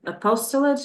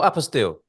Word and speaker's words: apostille: are applying to, many times it is a apostolate. How do you say it? Oh, apostille.